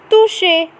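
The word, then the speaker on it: toucher: next is to say the pronunciation of ch is sha so it becomes toushe which means to touch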